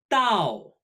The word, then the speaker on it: 到: character in this set Dao dal pronounced similarly tonight but with a falling tone this character means to